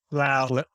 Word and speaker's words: Slough: You went from growing up in, I think it's pronounced Slough, perhaps. It's Slough. Slough.